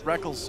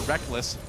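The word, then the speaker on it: Rekkles: from going back reckles technically it is written reckles yeah it is he spell it fanatically all the way back in his first major tournament IPL 5 the reckles and Reckless debate was in full swing I still want to call him reckles but I'm just gotten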